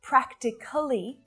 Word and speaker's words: practically: So it's not practically, it's just 3 syllables.